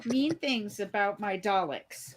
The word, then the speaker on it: Dalek: Don't you say mean things about my Daleks. Right. And thank you for pronouncing it correctly, Daisy.